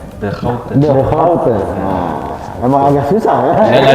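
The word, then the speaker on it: De Grote: Tapi yang sebenarnya bukan The Groot dibacanya. The Houte.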